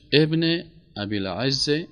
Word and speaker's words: ابن ابی العز: علامه نام درستش ابن ابی العز حنفی است. همین قسم تلفظ میشه.